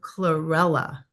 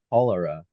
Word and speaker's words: chlorella: advocate of chlorella. Chlorella, Yes. My chlorella. friend told me about that. He was calling it cholera, but I Oh, didn't think it sounded right.